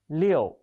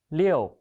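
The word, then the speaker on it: 六: it's a chinese character it means six the pronunciation is leo leo please write it with me let's have a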